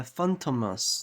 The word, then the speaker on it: Fantômas: Yeah, Fantômas. That's how you pronounce it. That's French, I think.